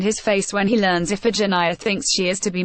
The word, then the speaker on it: Iphigenia: He sacrifices his daughter, whose name, pronounced Iphigenia, he can't quite spit out, calling her Iphigenia, only 26 minutes into the episode and barely 10 minutes after we've met him.